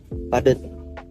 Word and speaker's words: padat: Padut seharusnya padat. Perbaikannya, padut menjadi padat. Penjelasannya, kesalahan itu terjadi karena adanya perubahan bunyi vokal huruf U menjadi A pada kata padut. Bentuk yang benar adalah padat.